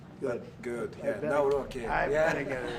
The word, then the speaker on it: Nawrocki: Gave me a little different pronunciation. I said, I want to get it perfect. Did I get it right? Yeah. Good. Good. I Yeah. better- Nawrocki.